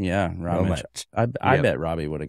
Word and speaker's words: Rometsch: And actually, Ben, I should have asked you how to pronounce it correctly. Rometsch. Rometsch is what I want to say. Away. Rometsch. Yes. It's Rometsch. Yeah, Rometsch.